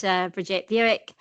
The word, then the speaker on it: Bridget Bewick: That's a great opening question and I want to say a special thank you for uh, pronouncing my name correct. Uh, as you said, I'm Bridget, Bridget Bewick.